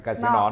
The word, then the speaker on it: Casino: Non c'è l'accento sull'ultima parola, no? Casino, no.